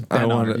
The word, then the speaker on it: Benard: Benard. So Hello. close. Isn't it Benard? It is Benard. It's Benard. Emphasis on the first syllable, Yeah, right.